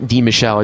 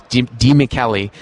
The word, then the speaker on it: DiMichele: And it took me a long time to pronounce that. It's not DiMichele, it's DiMichele.